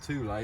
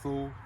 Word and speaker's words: Thule: on all our vehicles the two-lay or Thule, depending on how you wish to pronounce that, but it's two-lay bike rack carrier.